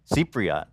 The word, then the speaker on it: Cypriot: So I guess my first question would be, as a Cypriot, how do you say it? Cypriot? Cypriot.